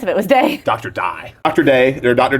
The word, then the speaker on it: Dey: with Dr Brandis Brandis it's pronounced die it's not day it is not I